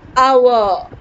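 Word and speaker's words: hour: example an ass an empire an ek and our it's not however it is our children hope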